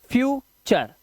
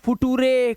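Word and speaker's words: future: Post चर ने चर अब नटूरे हैं पोस्टुरे फुटुरे कलुरे ये सब नहीं पढ़ना है स्टुरे डेंटरे फिटरे फैक्टरे क्रिएट ऐसा नहीं है। इसी वजह से हम लोग पीछे हैं। रूल्स पता होने चाहिए हमको कि टी यू आर एक साथ अगर लास्ट में लगा है चार पढ़ना है।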